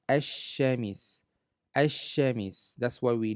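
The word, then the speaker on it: الشمس: Originally it's supposed to read al, al-shamis. However, sh is considered a sun letter. Therefore, it drops or it took over the sound of the L. So it's pronounced as ash-shamis.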